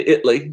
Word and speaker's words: Italy: Gotta say Italy. That's how they say it.